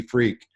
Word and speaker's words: Freke: his name is Timothy freak that's right the last name is pronounced freak and I wanted to